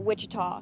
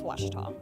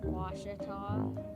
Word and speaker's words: Ouachita: Back in Texas, everybody pronounces it Wichita, but really, it's Washita. Washita. Washita. How would you pronounce it? Washita.